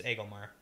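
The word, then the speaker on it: Agelmar: Like how to pronounce Aglmar? That's different. Or Gleb? That's different. Aglmar? You say Aglmar. Aglmar. It's Aglmar.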